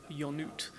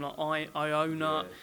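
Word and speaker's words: Ionuț: Yeah, and well done pronouncing Ionut correctly, because I got I used to call him Ionut.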